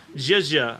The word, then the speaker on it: Zhezha: tracking, as well as Zhezha, I've been assured is the correct way to pronounce our tracker's name.